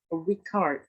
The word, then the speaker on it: record: And another example is the word record. Record. The word stress is on the second syllable.